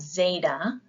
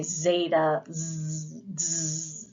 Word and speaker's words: zeta: echo we also have Zeta which gives a little D sound there is a buzz about that and you pronounce it like you would in kadu so say Zeta next is Ada this